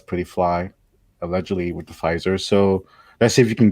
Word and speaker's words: Pfizer: The Pfizer's kind of like it's like it's like the getting like a Cadillac. Yeah, because the word has a letter that you don't pronounce, so it's got to be higher grade, right?